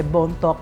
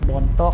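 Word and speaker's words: Bontoc: It's a joke kasi bone talk was how the Americans pronounced Bon talk They're not just primitive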